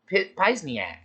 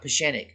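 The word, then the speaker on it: Pieczenik: read his books and i thought his name was steve pizniak not pashenic so i was pronouncing his name wrong in my head as pisniak or pisniak i must have read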